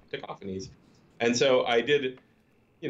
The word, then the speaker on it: Tacofangs: Taco Face or Taco Fangs, but really it's pronounced Tacophanes.